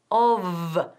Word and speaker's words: of: Muy bien, of no, of, casi como una V.